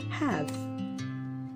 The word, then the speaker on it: have: You cannot apply the rule. It's not he.